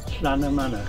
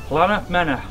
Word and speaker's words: Llanymynech: How do you pronounce this golf club? Because I think I'm going to get it wrong. Llanymynech. Llanymynech. No, Llan. Llan? Manor. Llanymynech.